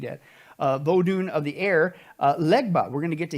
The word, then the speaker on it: Legba: That's how you say it there, Legba.